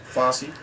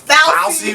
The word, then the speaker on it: Fauci: I think Fossey means as well, but are we saying his name right? I don't know. Listen, wait a minute, you got me saying it wrong. If Dr. Fossey, Fousey, whatever his name is. It is Fauci.